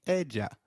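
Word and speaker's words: ella: of area in Spanish Double L takes up the sound of Y in some areas and a soft J in others so you'll hear both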